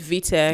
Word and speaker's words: VTEK: His name is VTEC.